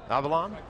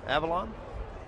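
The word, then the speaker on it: Avilán: THE LEFT HANDER IS -- HELP ME OUT WITH THE EXACT PRONUNCIATION, DREW? AVILAN? AVILAN? AVILAN? Drew: AVILAN.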